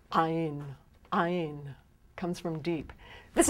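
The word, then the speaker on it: Ayin: olive if i were to say iron it's ein ein comes from deep this is what catches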